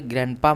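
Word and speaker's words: grandpa: यहां पे देखिए ग्रैंडपा में डी आपका साइलेंट हो जाएगा।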